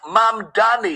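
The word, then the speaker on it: Mamdani: What is This is New York City Mayor So on Mom Daddy, pronounced Mom Daddy.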